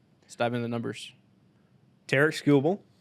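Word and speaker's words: Tarik Skubal: dive in the numbers Terk scoble that's his name I said that earlier yeah yeah that's how you say it um 31 games started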